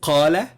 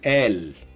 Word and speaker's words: قال: Okay, so instead of qala, he said, we say al.